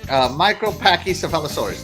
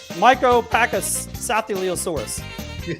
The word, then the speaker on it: Micropachycephalosaurus: Micropachycephalosaurus. There we go. Micropachycephalosaurus.